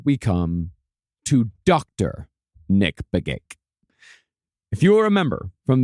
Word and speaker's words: Begich: Is that you pronounce it? Nick Begich? Mark Begich. It is Begich.